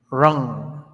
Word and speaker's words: wrong: The W is silent. I'm not very sure, Nelson. Okay, good to this pronunciation, Nelson. Raw wrong.